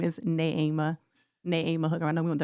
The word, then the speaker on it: Neema: Um I forgot to correct you pronounce my name is Na Na Ama Hooker.